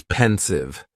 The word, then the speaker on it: pensive: Next is pensive, and the pronunciation is very easy. Just 2 syllables, and the stress is on that first syllable.